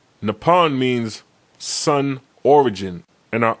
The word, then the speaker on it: Nippon: Now, the English word for Japan derives from the Chinese pronunciation of the Japanese name pronounced Nippon. Nippon means sun origin and are often translated as land of the rising sun.